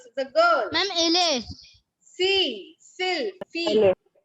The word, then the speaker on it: fille: Fee. Fil. Fee. Ele. It's not fillet, it's fee. F-I-L-L-E. Double L is silent.